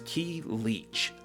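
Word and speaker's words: Ki Leech: I'm another word that I've only really ever read and not heard pronounced or at least not that I'm aware of. But this is key leech.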